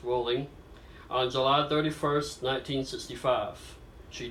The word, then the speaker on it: Rowling: all JK Rowling was born Joanne Rowling pronounced rolling on July 31st 1965